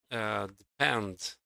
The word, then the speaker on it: depend: How about depend? Depend is also stressed on the second syllable.